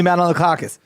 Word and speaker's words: Manolakakis: Manoli Manolakakis.